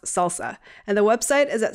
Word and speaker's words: SLSA: It's abbreviated to SLSA, which is pronounced salsa, and the website is at salsa.dev.